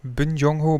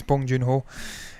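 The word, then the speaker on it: Bong Joon-ho: with bong joon ho i always screw his name up bin jung ho bond i think it's bong joon ho that's how you say it snow piercer we've got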